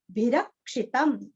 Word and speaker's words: भिरक्षितम्: कमन्त्रेण, कमन्त्रेण, जगत चैत्रैक मंत्रेण रामनाम्ना, रामनाम्ना भिरक्षितम, भिरक्षितम, भी और क्षी दोनों भी रस्व है और लास्ट में आधा मो।